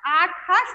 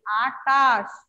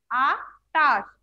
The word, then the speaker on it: আটাশ: হ্যাঁ এবার আমরা লিখবো আটাশ ছয়ে ছয় আকারে চার আটাশ আঠাশ উচ্চারণ করো, এটার উচ্চারণ কিন্তু কি আটাশ আটাশ, আমরা অবশ্যই টয়ের উচ্চারণ করবো ঠ নয়, ঠিক আছে তাহলে আটাশ।